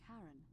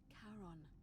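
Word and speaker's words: Charon: The name you heard wasn't Karen. It was C H A R O N as in Kon the fairyman of the dead.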